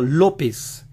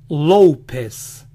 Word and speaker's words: López: el sonido de la o este estilo de pronunciar lo aplican al apellido lópez ellos lo dicen lópez lópez lópez también a josé josé y house